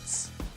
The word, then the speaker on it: Ц: No, it's Next one is ts. Ts. It's literally like this. Ts.